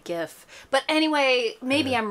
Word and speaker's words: GIF: sense uh and pgraphics pronounce it with a hard G GIF GIF not GIF GI H interesting uh